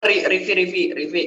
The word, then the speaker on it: Rivi: Oke, itu bacanya bener ya? Rivi apa gimana? Pardi. Iya benar, Rivi, Bang. Oke. Laila Miriam Faiza. Rivi. Panggilnya Rivi. Hadir Kak.